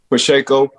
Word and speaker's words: Pacheco: Pacheco.